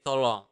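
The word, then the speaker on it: tolong: please you just say to long to long to long it's like too long but well not really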